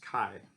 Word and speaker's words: chi: And it looks like chi-test, but it's called the chi here. It's pronounced chi.